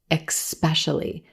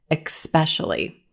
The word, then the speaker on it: especially: word especially especially now a lot of times native speakers will pronounce this word like there's an X in the first syllable and they'll say especially especially making it sound like words like exchange and exceptional but there's no X in the first syllable in